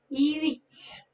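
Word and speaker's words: huit: 8, 8. H is silent, and this is a general rule in French. H is never pronounced, and this is a rule in majority of the Romance languages.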